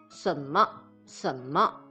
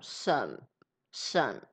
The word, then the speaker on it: 什么: say 什么 I say 什么什么 I don't curl my tongue because Taiwanese don't curl their tongue that much. And I pronounce it more like a third tone, 什什 the low tone.Okay, so